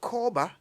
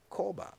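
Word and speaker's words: Korba: for chilling that's what they say but with koba every minute of your time is like a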